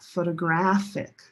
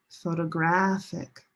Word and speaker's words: photographic: They are related, but they sound totally different. Different stress location and different vowel sounds. Listen. Rose, boat, photograph, photograph. Black cat, photographic, photographic.